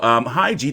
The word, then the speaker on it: Khegai: And then you have, you know, Khegai, the K is silent.